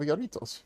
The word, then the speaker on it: Jarritos: And I went to my local Asian Mart and I have jarritos. Jarritos? Oh, wow. That popped really loud. Also hit me in the neck, because J is pronounced H in Spanish.